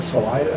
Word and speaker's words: Salida: And at the Salida, which I learned is how it's pronounced.